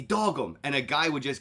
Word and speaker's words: Dogum: Dogum.